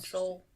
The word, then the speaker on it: Seoul: What about Seoul? I mean, that's not how it's spelled. Yeah, it's supposed to be Soul's spelled like Seoul.